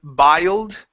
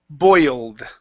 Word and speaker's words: boiled: ye old boy boy instead of biled it's an OE OE boiled miles okay good one